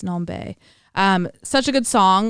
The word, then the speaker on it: NomBe: it's called weirdo by nombe i believe is how you pronounce it nombe um n-o-m-b-e but the n is capitalized and then the b's capitalize non-bae um such a good